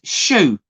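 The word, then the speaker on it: choux: Ian Fraser's last sent the answer is shoe but it's not spell s-h-o-e it's spelled c h o u x but if it sounds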